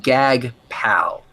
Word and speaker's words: Jagpal: Oh, I have no idea, but it's literally spelled SUCKDEEP with no spaces, and the other one is it's a JAGPAL. And he pronounced it Gag Pal.